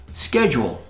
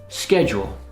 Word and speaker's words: schedule: Schedule, a plan. Schedule. In the UK, it's pronounced differently. I think they say schedule, but in North America, we say schedule.